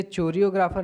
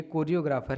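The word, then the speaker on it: choreographer: इसे चोरियोग्राफर ना पढ़ें, ये कोरियोग्राफर हैं, एच साइलेंट रहता है, ठीक है।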